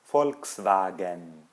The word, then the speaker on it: Volkswagen: Angela Guisela Guisela ou a marca de carros Volkswagen né por isso que a gente pronuncia assim Volkswagen continuando o h no